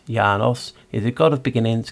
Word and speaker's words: Janus: In ancient Roman religion and myth, Janus, Latin Janus, pronounced Janus, is a god of beginnings, gates, transitions, time, duality, doorways, passages and endings.